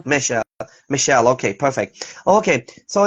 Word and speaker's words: Mechelle: And by the way, the correct pronunciation is your name is Michelle, Yeah, or how can I? yeah, that's Yeah, correct, Michelle. Michelle.